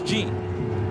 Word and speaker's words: Jean: And Ricky changed it from Jean to Jean. Yeah, because I went back and looked at my old boards and looked at pronunciation, and it was Jean. Okay, so Ricky decided to go full out there and go with the traditional French, Ricky Jean.